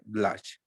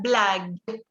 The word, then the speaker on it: blague: j'aime beaucoup faire des blagues. Ok, esa última palabra se pronuncia blag. Significa bromas, blag. Blague.